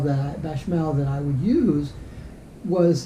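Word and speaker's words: béchamel: chicken and beckmel sauce bechamel i guess is how you pronounce it with uh skillet sauteed asparagus and depending on how much of that beckmel that bachmael that i would use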